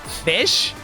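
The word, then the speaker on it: ghoti: like you know how at the end of enough it's GH so that makes an F sound effect and then if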